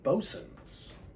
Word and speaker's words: Boatswain: He said, this is not Boatswain, which after he said it, I went, oh my gosh, yeah, it's Bosun's.